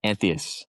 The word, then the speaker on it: Anthias: Is it pronounced Anthias or Anthias? Oh yeah, Anthias.